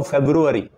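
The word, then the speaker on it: February: होगा लिखेंगे योक बट पढ़ेंगे योक क्योंकि ल साइलेंट है महीने का नाम फरवरी पढ़ेंगे उसको फेब्रुवारी क्या पढ़ेंगे फेब्रुवारी डेंगू एक बीमारी का नाम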